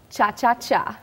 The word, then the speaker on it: cha-cha-cha: Is it more than one cha? Cha-cha-cha. Cha-cha. Oh, I've been saying it wrong all these years. Okay. It is cha-cha-cha, mm-hmm.